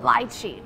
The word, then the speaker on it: lychee: Lychee, told y'all. Okay, so the British say lychee while Americans say lychee. The British way of pronouncing sounds quite elegant and sophisticated. The American way sounds simpler.